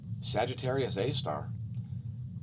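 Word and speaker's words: Sagittarius A*: The core of the galaxy is called Sagittarius A star. That's how it's pronounced, SGR space A asterisk.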